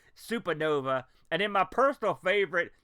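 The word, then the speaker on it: Supanova: One, Supernova, spelled like gangsta style, S-U-P-A, Supernova.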